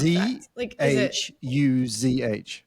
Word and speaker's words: zhuzh: Can you spell it though? Because I feel like I don't really know. ZHUZH.